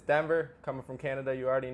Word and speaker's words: Denver: say my name and I'm like like the city Denver like that might be